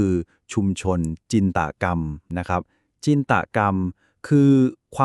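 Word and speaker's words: ชุมชนจินตกรรม: หมด ชุม ชน จินตนาการ คำ นี้ ใน ภาษา ไทย ออก เสียง ให้ ถูก คือ ชุม ชน จินตกรรม นะ ครับ จินตกรรม คือ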